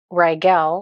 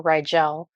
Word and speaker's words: Rigel: andromedan lightworker Gateway and the rygal or rigel light worker Gateway which Regal is how I pronounce it Regal is a planet